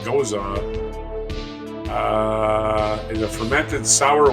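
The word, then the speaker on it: Gose: I don't know OA is actually pronounced goza uh is a fermented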